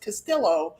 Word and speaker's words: Castillo: So, I think it might be actually pronounced Castillo. No, it's supposed to be Castillo because it's Hispanic name. Double L always reads as Y.